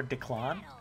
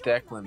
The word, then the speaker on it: Declan: that anime so i wasn't sure if it was declan or declon it's declan bro do you know how